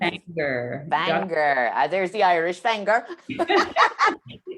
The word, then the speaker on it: Fanger: How do you pronounce it? Fanger.